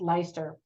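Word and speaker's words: Leicester: was it Felipe Langley or the University of leister now Americans would read that my sister but it's pronounced leister like Worcestershire sauce that's how we Americans pronounce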